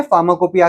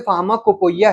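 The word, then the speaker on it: pharmacopoeia: करते हैं फार्माकोपिया की तो फार्माकोपिया का स्पेलिंग पहले देखिए क्या है फार्मा कोपो इया इसको हम लोग अगर पढ़े तो फार्मा कोपो या है की स्पेलिंग आती है बट इसको हम कहते हैं फार्माकोपिया है अब ये फार्माकोपिया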